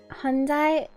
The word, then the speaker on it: Hyundai: Why don't they just spell it? Hyundai.